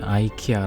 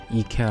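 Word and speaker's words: IKEA: 외국인 친구랑 미국인 이었는데 그놈이 아이키아 라고 예 이케아 라고 했더니 그 녀석이 무슨 발음이 idk 하얀 올렸습니다 이케아가 원래 소외된 바로 물입니다 발음입니다 아이키아 라고 했던 녀석의 검색해서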